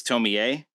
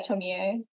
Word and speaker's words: Tomie: So I apologize for butchering the pronunciation of the main character. It's Tomie. Yeah, Tomie.